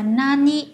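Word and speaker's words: 何: Một là nan, hai là nani. Nani. Được chưa ạ? Và cái cách đọc của nó sẽ phụ thuộc vào cái từ đứng sau của cái chữ đó là chữ gì.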